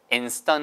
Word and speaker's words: instant: 왜 떤이 됐어요? S 다음에 T 발음이니까 instant가 아니고 S 발음 다음에 T가 나오면 100% 예외 없이 떤이 뜨 발음이 된다 그랬죠. 여기서는 어 발음이니까 stun. 아시겠죠?